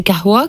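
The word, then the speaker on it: قهوة: Alors, il y a plein d'orthographes, plein de manières de le prononcer. À l'arabe, c'est kahwa, qui veut dire une boisson qui coupe l'appétit.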